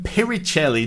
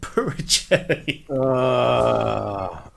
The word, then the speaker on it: Puricelli: spelt my name wrong i'm piritelli not purging so my you know